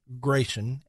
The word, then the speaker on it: Gration: to Kenya Jonathan Scott Gration and Hillary Clinton. Now, Gration, and I believe that's how it's pronounced, G-R-A-T-I-O-N.